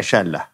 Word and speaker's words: شالة: حاليا قرب مدينه مكناس كانت تنطق السين شين ف عوض ان تقول سلا كانت تقول شلا او شل ومن هناك في كاين